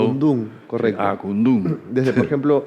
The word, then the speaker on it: Akundún: Acundum, lleva el acento en la U. Acundum, correcto.